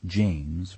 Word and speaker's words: Jame: blue no distinguishing marks he pronounces his first name like James without the S Jame he insists on it